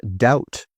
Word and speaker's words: doubt: And doubt. If you have a doubt about something, you're not sure about it. The B is silent.